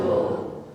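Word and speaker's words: Balle: Simon Bull. Simon Bullo. Not Simon Bell. Bull. Simon Bull. Right. So one more please. Simon Bull. So how is spelled? How does it spell? B-A-L-L-E. But you pronounce Bull.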